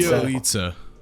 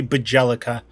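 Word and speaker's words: Bjelica: Bielitsa. Bielitsa. Or you could piss off people and you could say Bajelica.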